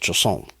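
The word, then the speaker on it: chausson: eaten in France, and it is called a Choson. C H A U S O N. And that's the way it's pronounced, Choson.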